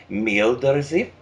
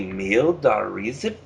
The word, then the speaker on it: Meeldareezff: So perhaps it would be pronounced Meeldareezff. Meeldareezff. So I think I have the last part incorrectly. Is it AZF? It would be Meeldareezff, but if you are pronouncing it more speedily, it would be Meeldareezff.